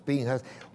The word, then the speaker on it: Pinchas: Lo escriben Pinchas, lo pronunciamos Pinjas.